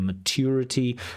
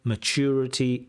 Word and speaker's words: maturity: Now certainly the most common pronunciation of mature is with a ch mature immature maturity immaturity with a ch sound.